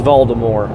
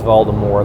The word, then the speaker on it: Voldemort: All right, it's Voldemort. I know. I'm educated. I know it's Voldemort.